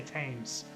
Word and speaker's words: Thames: a second it's like it's pronounced Thames you can't you can't Ryan you can't say just say tames and like it's a